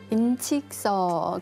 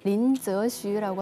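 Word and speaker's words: 林則徐: 초상화를 볼까요 동영씨는 아시죠네 그 인직서 중구 발음으로 린스라고 하는데요 이분이 중국이 서양 선진의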